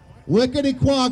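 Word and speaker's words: Wequetequock: would you say that how would you pronounce it wickedy quack volunteer fire department ladies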